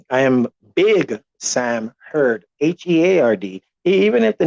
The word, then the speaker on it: Heard: and um different name i am big sam heard h-e-a-r-d even if the name is spelled heard h-e-a-r-d or heard h-e- like some